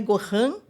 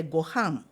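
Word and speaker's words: ご飯: A nasalula em japonês é pronunciada. Hum. é um que você pronuncia eh fechando essa parte que que o sal, o vento sai, o ar sai. Então, por exemplo, eh, Gohan, não é Gohan com tio, mas é Gohan.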